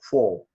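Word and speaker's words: 佛: So that's we pronounce Buzi or Fo in Chinese.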